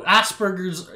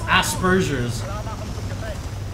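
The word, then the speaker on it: Asperger's: and Sh no no Asbergers is not how you pronounce it it's Aspergers yeah that's what he said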